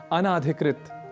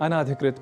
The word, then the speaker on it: अनधिकृत: हुआ भी पाते हैं अनाधिकृत, अनाधिकृत प्रवेश वर्जित है। तो इस तरह से कुछ अशुद्धियां होती हैं, जबकि होना चाहिए इसे अनधिकृत।